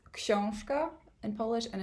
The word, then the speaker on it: książka: It's pronounced książka in Polish, and it's by Keith Houston, so it's obviously a translation, and the original title is the book.